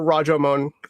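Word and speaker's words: Rashōmon: Okay, yeah, so there it is, or Rajomon is closer to the actual pronunciation of the time.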